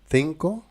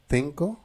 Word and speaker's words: cinco: Mais si nous avons la voyelle E en espagnol, on prononce E ou I la prononciation c'est S. En Amérique et en Espagne, c'est C C.